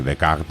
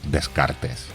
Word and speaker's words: Descartes: en la pizarra y resulta que the Card es la manera francesa correcta de pronunciar lo que los españoles solemos decir Descartes Entonces me di cuenta